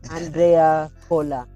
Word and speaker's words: Andrea Cola: conversation ladies and gentlemen my guest today is Andrea Cola I hope I pronounced it right pal yes yes hello hello